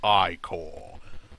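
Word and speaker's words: Ichor: can fill it with magical I call that's pronounced I call choose your I call wisely I'm go to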